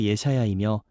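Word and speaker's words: ישעיהו: 이사야라는 제목의 원어 의미는 히브리어 발음으로 예샤야이며, 그 뜻은 여호와는 구원이시다입니다.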